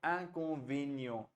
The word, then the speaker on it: inconvénient: V नहीं है रुचि वेन्यो inconvénient. V के बाद ई पे accent है, so you'll have inconvénient, right?